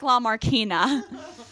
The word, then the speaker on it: LaMarchina: Well, everybody tends to mispronounce my last name. It's spelled like LaMarchina, but it's pronounced like LaMarchina.